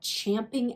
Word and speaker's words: champing: But you're like champing at the bit. And that's the right way to say it, by the way.